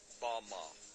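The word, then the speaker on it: בָּמָה: which Satan fell is Strong's Hebrew word 116 pronounced Bama Bama is most commonly used to refer to a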